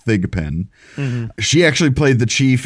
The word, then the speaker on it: Thigpen: did not mispronounce that it is thigapen she actually played the